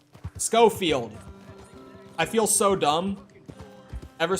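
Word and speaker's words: Schofield: just like an upgraded show field scofield i feel so dumb ever since my friend pointed out to me that it's not pronounced show field i felt dumb because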